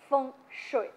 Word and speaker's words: Feng Shui: These particular ducks played a starring role in a common misconception about the ancient Chinese practice of Feng Shui, pronounced Feng Shui.